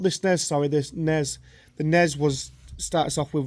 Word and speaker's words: NES: NES, it's NES. Yeah, which is pronounced NES.